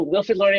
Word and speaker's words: Wilfrid Laurier: canada and i hope i didn't butcher the pronunciation of your institution great that's great thank you no no wilfred laurier university it is indeed and you know i